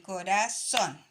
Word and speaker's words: corazón: Estas dos palabras son agudas. ¿Por qué? Porque se marcan en la última sílaba, ¿ya?